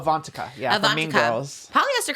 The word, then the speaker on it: Avantika: Like Ivanka, is that how you say her name? Ivanka? Oh, Avantika.